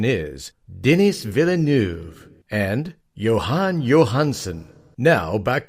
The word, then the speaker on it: Denis Villeneuve: Lee and Garrick are more on the correct pronunciation is denis villeneuve and johan Johansen now back to the show